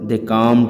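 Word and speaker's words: calm: অপরকে ধাক্কাধাক্কি শুরু করেছিল কামড a little C এল এমইডি এটা কাল হবে না উচ্চারণ এটা হবে কাম উচ্চারণটা কাম কাম লিটিল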